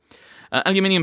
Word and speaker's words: aluminium: but I have standards I shall say it the British way despite it being spelled the American way aluminium powder for taking fingerprints